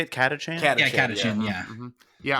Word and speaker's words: Catachan: Yeah, Catachan, yeah.